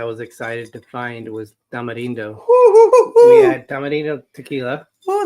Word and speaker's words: tamarindo: You're trying to sound authentic. Tamarindo. That's how you say it.